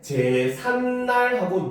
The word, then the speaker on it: 제삿날: 자, 그래서 예를 보면은 제사라고 하는 한자말에다가 날이라고 하는 고유어가 합쳐졌는데 우리가 발음할 때 제삿날하고 니은 받침을 집어넣어서 발음을 하잖아요. 그렇죠? 그래서 그걸 표기하기 위해서 표기할 때는 제삿날 이렇게 표기를 하는 겁니다.